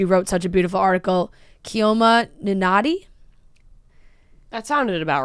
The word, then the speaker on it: Chioma: Chioma Ninati? That sounded about right. C-H-I-O-M-A. Chioma, but if it was an Italian pronunciation, Chioma.